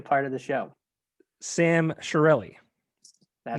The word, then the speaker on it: Chiarelli: Sam Chiarelli, That's not that's it.